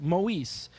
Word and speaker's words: Moise: was the girl of Lionel Moise pronounced Maurice the man who's supposed